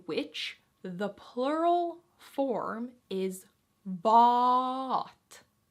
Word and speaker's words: vaa'at: For example, vaaka is a special word in which the plural form is vaa'at. 3 A's in a row. Vaa'at. Vaa'at. Vaa'at. How do you go about pronouncing this? Vaa'at. Remember the vu.